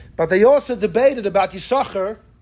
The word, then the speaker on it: Yissachar: Ben Naphtali said you pronounce both sins. There's no silent sin.